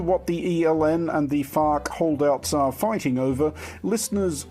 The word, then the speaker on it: FARC: of Colombia usually better known and very carefully pronounced as farc though farc did sign the peace deal and